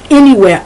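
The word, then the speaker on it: iniwhere: like i n i the pronunciation is any even though the correct spelling would be a in y um also if you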